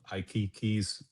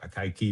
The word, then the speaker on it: Akaike: The Dalhouse solution is to use NIC which is like you know basically a locally stationary analog of II keys or AAI key depending on how you pronounce its information criterion or the basian information criterion.